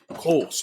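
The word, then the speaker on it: Kölsch: So the little bit more it says here is, so how do you say the U? Ooh. Sure. It was Sunner that brewed the first beer in the modern Kolsch style. Kolsch, there you go.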